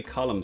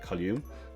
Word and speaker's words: column: add a new tree column section and those of you who are following my videos will be happy that I can now pronounce column instead of colume um don't know why